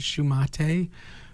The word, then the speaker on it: Shumate: Shumate. No, not Shumate. It's Shumate. spelled, you could pronounce it Shumate, but that would be wrong.